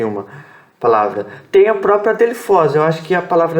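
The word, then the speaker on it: ἀδελφός: Adelphos. 3 sílabas aqui, tá? Adelphos. O que nós temos aqui? Essa letra é a sílaba tônica. Essa aqui são 3 sílabas. São 3 letras, tá? E aqui eu tenho del ou del. É a segunda sílaba da frase. E fos tem um som mais aberto por conta do ômicron aqui.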